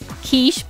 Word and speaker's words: quiche: For the longest time, quiche was spelled as K-I-S-H, most likely so kids would know how to pronounce it.